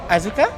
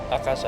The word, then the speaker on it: Akaza: Tanguro uh was that Azuka? Akaza. Akaza. I keep saying his name wrong.